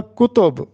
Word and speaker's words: کتب: ہوگا کلی قطب شاہ۔ کتاب کی جمع کتب ہوتا ہے، ہم نے کتب خریدی، تو یہاں پر تلفظ ہوگا کتب، کاف پہ بھی پیش اور تے پر بھی پیش، تو کتب۔ لیکن کلی